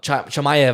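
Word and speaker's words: Chimaev: chman no they um chamay I think chamay yeah yeah I think people pronounce it but I know he probably pronounces different no no it's shamay they pronounce chamay but yeah June 22nd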